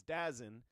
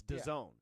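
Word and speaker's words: DAZN: Well, yeah, you would think it's Dazzin, but it's Done.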